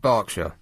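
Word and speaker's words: Berkshire: Looks like Burkshire said Barkshire. There's no rhyme or reason to it. There's no A in there.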